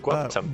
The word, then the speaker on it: GWPTMT: Gwuptumt. Gwuptumt? Yeah, that's how you pronounce it. Gwuptumt.